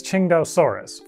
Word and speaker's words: Tsintaosaurus: I am pronouncing this Chingdaosaurus. For once, we have a dinosaur made in China that was found in China, and the city it was named after is pronounced something like Qingdao.